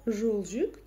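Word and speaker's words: жолжүк: Первый слог у нас твердый. Буква О как пишется, так и читается. И вообще даже не искажается. Жолжюк. Дальше у нас слог мягкий. Это означает, что это слово с других краев. Как научиться читать недописанную букву У? Ну, нужно знать, что в казахском языке это мягкая буква. Да-да-да. И произносится она следующим образом.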